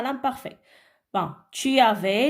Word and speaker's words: avais: Bon, tu avais, le S ne se prononce pas.